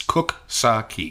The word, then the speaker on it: Coxsackie: a tote bag that gives you phonetic pronunciation it's cook saki I know you think